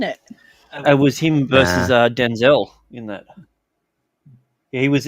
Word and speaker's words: Denzel: Years ago, in an interview, Denzel Washington said everyone has been pronouncing his name wrong, like forever. It's not Denzel. It's not actually Denzel. It's Denzel. Denzel, yeah, like his grandfather.